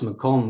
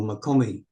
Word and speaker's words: MacThomas: Uh, and it is rendered in English as MacThomas, but in the Gaelic, it's pronounced as Macomb or Macomie.